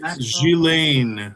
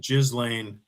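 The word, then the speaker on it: Ghislaine: It's Jilain. Uh I always pronounce it Jizlane because I'm a child and also she's gross and deserves it. But I don't think that's the proper pronunciation, nor is it any anything close to journalism.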